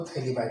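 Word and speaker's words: phthalimide: यहाँ पर जो थैलीमाइड का जो पी है ये साइलेंट है, ये बात जो ध्यान रखिए, आपको थैलीमाइड कहना है।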